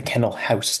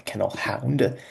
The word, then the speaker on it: Kennel House: It's the Kennel House, not the Kennel Hound.